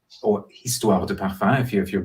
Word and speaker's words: Histoires De Parfums: It is Histoires De Parfums, or Histoires De Parfums, if you're not pronouncing the word correctly with the silent H at the beginning, set up 20 years ago by Gerald Ghislain.